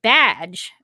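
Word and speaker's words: B'dg: going to be a badge, which I think is how you pronounce it. If you look at the name, it's spelled B''DG, but I think I've heard it pronounced as badge.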